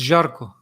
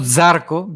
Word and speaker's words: Jarko: It's Jarko. Jaco. Okay. Jaco. Jarko. Okay. Gotta roll Jaco. the R's. It's not Zarko because that's J.